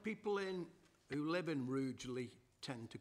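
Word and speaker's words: Rugeley: seven is hagley field rougely proposed lease i was intrigued by the pronunciation of rougely depends where you come from in the county sometimes it's rudely other times it's rudely but um let's see how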